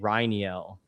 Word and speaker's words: Rainiel: And you say it Rainiel, like a rye, like a whiskey, is how you say it.